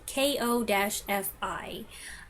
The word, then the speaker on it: Ko-fi: how to say it it's spelled k-o-f-i and to me that should be said Kofi but they use a coffee metaphor and I've heard people in videos say it coffee so I guess I